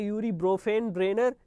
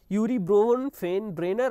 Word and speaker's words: Urie Bronfenbrenner: यूरी ब्रोफेन ब्रेनर की theory जो है, इसका प्रोनाउंसिएशन इंग्लिश में अलग होता है, हिंदी में अलग होता है। इंग्लिश में हो जाता है यूरी ब्रोफेन ब्रेनर, ठीक है ना, यूरी ब्रोफेन ब्रेनर, और हिंदी में हो